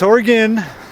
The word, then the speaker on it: Oregon: for a fact that I drive oregonians nuts when I say Oregon you can't stand that I don't do it on purpose I just I mean it's spelled Oregon right but it's Oregan orgin work what's that